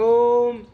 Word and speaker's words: ओम: जब हम बोल रहे हैं तो उच्चारण 3 ध्वनि आती है इसमें। हम जो बोलेंगे, शुरू करेंगे ओम, तो ऐसे की ध्वनि निकलेगी, फिर वो ऊ की बनाएगी, फिर मैं की बनाएगी।